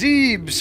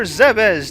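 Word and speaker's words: Zebes: this is oh look it's zebs or zez depending on which pronunciation you want to use it is 4.8 trillion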